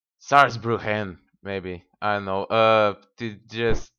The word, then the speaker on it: Saarbrücken: And we're currently besieging wait, Saarbrücken. I believe that's how it's pronounced in German. You just have to pronounce it a little bit more angrier. Saarbrücken, maybe.